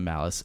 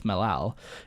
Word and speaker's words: Malice: zero resistance to the worship of malice often mispronounced or mispronounced by them as melal in their primitive tongue some